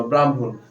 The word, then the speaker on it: ব্রাহ্মণ: তাহলে হ প্লাস ম তাহলে এই ম এর উচ্চারণ এর উচ্চারণ আগে হবে হ এর উচ্চারণ পরে হবে তাহলে কি এইযে ম এর উচ্চারণ আগে হয়েছে হ এর উচ্চারণ পরে হয়েছে ব এর ফলে আকার ম্রাম হকার দন্তন্য ব্রাহ্মণ তারপরে এইযে মধ্যান্য সেম